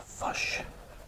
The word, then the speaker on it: fish: So for example, if I was to say fish and chips, New Zealand might pronounce fish as a fush, which is quite amusing.